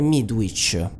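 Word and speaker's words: Midwich: conoscenze pregresse il nome midweek c'è which è la stessa pronuncia praticamente identica a witch strega solo che si scrive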